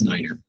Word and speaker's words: nine: that so um so nine is Niner okay so again you